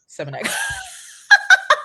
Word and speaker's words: Seminak: Seminak. Like it's semen. It's semen with an AK.